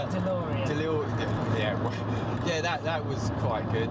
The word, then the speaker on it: DeLorean: DeLorean.